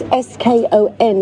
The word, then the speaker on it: scone: you for 12 years it's s-k-o-n is the pronunciation of scone no you know it's